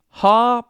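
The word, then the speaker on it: ὁ: a like an h kind of like ha like ha ha if you're laughing and that is a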